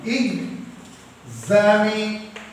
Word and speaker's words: examination: The correct pronunciation is that EX has got IG sound. Examination.